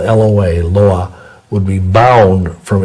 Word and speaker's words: Loa: lying and deceitful spirits of the voodoo Loa, it's spelled L-O-A, Loa, would be bound from influencing that person